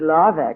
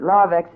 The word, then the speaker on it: Larvex: would starve to death before it tried a little uh wool that had been uh sprayed with Larvex.